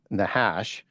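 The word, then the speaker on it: נחש: The serpent is the Hebrew word nahash. N a c h a sh and pronounced nahash.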